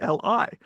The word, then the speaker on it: Lee: names of common origin, but often the Lee pronunciation, which is used in Korean or in Cantonese, right, is something that's well established. And it's, of course, always convenient because it's exactly the same as the English surname Lee.